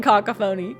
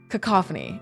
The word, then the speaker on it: cacophony: Yeah, I was saying cockapony. That's not how I pronounce it, but I was laughing at that. No. Brandon Sanderson loves this word. And I'm like, girl. Okay. Cacophony. See, that's cacophony.